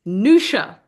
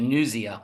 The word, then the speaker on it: Niusia: So the show is named after my grandmother, whose name is Nusha. I was calling it Niusia. Anyway, Niusia. Niusia. We've had Niusia, Niusia, all variations on it, but her name is Nusha.